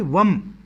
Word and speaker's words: वं: उसकी जो ध्वनि होगी उसकी ध्वनि होगी वम वा वा पे अं की बिंदी वम जब हम इस मंत्र